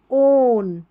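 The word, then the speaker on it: own: others focus ऑन your ओन इसको ओ डब्ल्यू एन को ओन पढ़ना है ठीक है डब्ल्यू यहां पर साइलेंट है इसको योर इम पी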